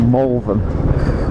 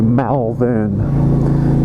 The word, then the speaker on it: Malvern: to Wales, and we're entering a town called Malvern. It's actually spelt for Americans out there, and I know some of my audience are American. If you were to say it how it's spelt, it would be Malvern, but locals would pronounce it as Malvern.